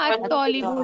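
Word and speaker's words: الطالب: वाला देखो है ना अतलीबु नाम का प्रोनाउंसिएशन होगा वहां पर लाम पढ़ेंगे नहीं पढ़ेंगे क्यों नहीं पढ़ रहे हैं शमश आ गई है ना हुफ शमशिया है ना ठीक है सबको समझ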